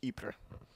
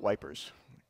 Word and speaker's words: Ypres: First World War, but it's spelled like that, pronounced Ypres. But when English soldiers marched into the town during the war, they called it Wipers.